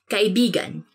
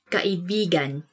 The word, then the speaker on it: kaibigan: Let me say something about this word, because you have to say it like this. Kaibigan. Kaibigan. Because kaibigan means friend. But when you twist it a bit and say it like this, kaibigan. Kaibigan. That's kind of, it's not really a natural way of saying it, but it actually means lover.